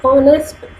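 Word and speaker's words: honest: My mother is एन ऑनेस्ट woman. अब है तो एज, लेकिन एज यहाँ पर साइलेंट है, ओ का साउंड है, यानी वॉल्स साउंड आ रहा है यहाँ पे.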